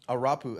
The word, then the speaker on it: Arapu: Even me, they say I'm minimal, which I don't think I am, because Arapu, that's how you pronounce it.